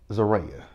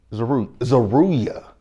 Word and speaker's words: Zaruya: What is her name? Zaria. Zaruya. God dang, I said her name wrong. Zaruya. Zaruya. Zaruya. That's her name.